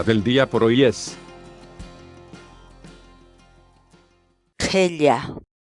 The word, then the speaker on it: qhilla: de videos en la que te enseñamos a pronunciar algunas palabras en quechua. Así que nuestra palabra del día por hoy es qhella, qhella, qhella, la palabra quechua.